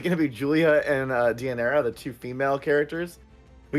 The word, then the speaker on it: Deianira: And then we have and I always pronounce her name wrong. Deianira, thank you. I always want to call her Daenerys.